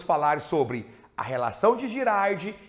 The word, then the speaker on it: Girard: Na verdade, Albert Girardi foi um matemático belga, alguns pronunciam Girard, enfim, a gente aqui está acostumado a falar Girardi, então vai ser Girardi daqui por diante.